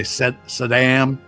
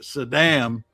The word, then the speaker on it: Saddam: Uh because the CIA profile profilers told Bush that pronouncing it Saddam was an insult in in Iraq in the Iraq language because it pronouncing that way actually means dog I think.